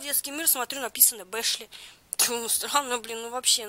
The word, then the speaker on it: Бэшли: Бэшли. Фроди, кстати, ее называют Башли. Я думала, действительно Башли.